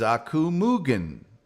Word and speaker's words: Aku Mugen: Aku says, Aku Mugen. Thank you, Aku. I will never pronounce your name incorrectly again. Thank you for that pronunciation guide. Very soft.